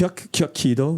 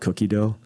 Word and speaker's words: Kyuki-Do: How you pronounce it? Kyuki-Do. Yeah. I was joking around with Javi earlier how some people call it Cookie-Do.